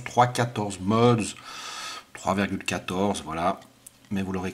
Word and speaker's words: 3.14 mods: Alors ça se prononce 3,14 mods, 3,14, voilà.